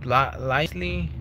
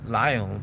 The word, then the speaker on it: Lisle: With Lisley or Lyle. I don't know if the S is silent or the L is silent.